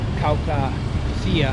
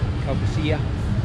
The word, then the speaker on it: Caucasia: wide river, and then after Caucasia, I think that's how it's pronounced, Caucasia.